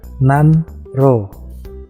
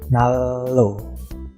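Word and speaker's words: 난로: Contohnya nan ro. Nah, di situ tulisannya nan ro, tapi dibacanya nalo karena niennya berubah menjadi riel, nalo.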